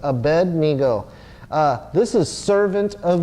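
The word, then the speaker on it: Abednego: he's AED nego and every time I've seen that pronounced there is a space in there so it's Abed Neo uh this is servant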